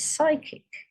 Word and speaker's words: psychic: say what it says psychic but is it a silent G or P now you'll know because P and S go together and G and N